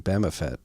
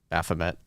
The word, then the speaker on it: Baphomet: So, the King of England putting Bamafet pictures in his portrait now. Had several comments in Nostr calling out your pronunciation there. A Bamafet? Baphomet.